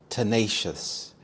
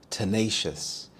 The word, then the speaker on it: tenacious: Tenacious. Tenacious. The stress is on the second syllable. Nay. Tenacious.